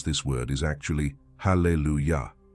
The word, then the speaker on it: Hallelujah: word in Hebrew Hallelujah the correct way to pronounce this word is actually Hallelujah not all Allelujah as it is commonly said in Hebrew the